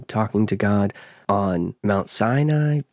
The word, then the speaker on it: Sinai: you have him talking to god on mount sinai senai if you prefer the pronunciation when he receives the tablets he talks